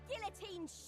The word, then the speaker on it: guillotine: men we'll have our Guillotines sharpened and our Guillotines cathina you're not supposed to pronounce that you're not supposed to pronounce the L Guillotine it's all right I'll